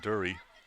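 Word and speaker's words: Drury: Plays it over to Dury. Spelled D-R-U-R-Y, but pronounced Dury.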